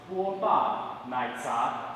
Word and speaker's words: 波霸奶茶: It's pronounced 波霸奶茶.